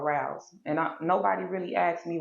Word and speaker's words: Rouse: production company it's called Rouse and nobody really asked me what rounds mean but Rouse is a play the way I spell it is Roz but it's really spelled r-o-u-s-e so that means to